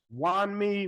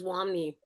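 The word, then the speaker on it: Wunmi: Wani Musaku, I probably killed that, didn't I? How do you say her name? It's Wami.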